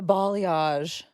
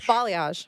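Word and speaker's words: balayage: clothes b b bage balage balage like the the country Bali thought it's not spelled that way but apparently that's how you say it wait hold up b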